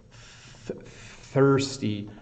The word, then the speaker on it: thirsty: words so it's the thirsty thirsty it's the th sound is hard for some of you and the Ury like it's a it's a tricky word um so hungry is